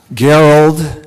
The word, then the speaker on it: Gerald: the honorable gerald jones gerald jerry dwayne jones and yes talking with janet and the kids tonight gerald would always tell you this geralt that consonants a hard g even though his nickname